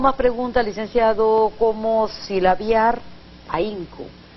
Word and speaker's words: ahínco: Hay una vocal fuerte y una vocal débil, porque la H en ese caso no tiene sonido. Así es. Para poder pronunciarla como debe ser, ahínco, tenemos que ponerle la tilde y rompemos el diptongo.